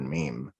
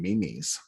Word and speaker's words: meme: mom say the word meme like i never i never thought this would become so mainstream i mean back then nobody knew how to pronounce it i had friends calling him mimi's mimi's yeah i remember